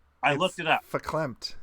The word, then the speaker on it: verklempt: it a feeling of verklempt. That's when your field's hooked up. That's the science word. Verklempt. That's the science word. It says that the V is an F. I looked it up. Verklempt.